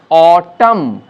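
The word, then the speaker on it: autumn: আবার দেখো কোনো কোনো ওয়ার্ডে ন মানে এন, এনটা উচ্চারিত হচ্ছে না, যেমন অটাম, এখানে নয়ের উচ্চারণ নেই, কলাম, এনের উচ্চারণ নেই, ড্যাম, এনের উচ্চারণ নেই, হাইম, এখানেও এনের উচ্চারণ নেই।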